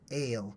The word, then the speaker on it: El: L or L it's it's more properly pronounced ale like wine like ale or ailment like something that ails you ail right that's sort